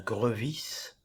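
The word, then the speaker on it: Grevisse: parfois quelque peu polémique attention prononcz bien grevis ce monsieur a dû passer sa vie à expliquer qu'il n'y a pas d'accent aigu sur le premier e de son nom Maurice grevis qui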